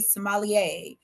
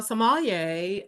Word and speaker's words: sommelier: you explain to me sommelier and what that process is of getting into that? Sure. So a sommelier or sommelier, if you're in Okay. France, American version in France pronunciation.